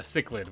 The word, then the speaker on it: cichlid: for these two fish first come first cichlid cichlid now that's how you say it and take